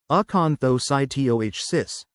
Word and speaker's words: acanthocytosis: Aanthocytosis pronounced aanthocytoh cis involves having abnormal spiky red blood cells called eanthsytes in your blood.